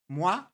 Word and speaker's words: moi: It means hi, but in a serious Dutch accent, like moi, like that, like the French way to pronounce it, moi.